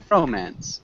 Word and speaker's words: romance: Romance. So, we want to emphasize that first syllable.